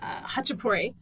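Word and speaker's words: khachapuri: It's called a hachapuri. It's spelled with a K.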